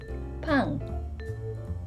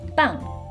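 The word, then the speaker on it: 방: we've got pong room pong be careful not to pronounce this word as bang which means bread I guess unless your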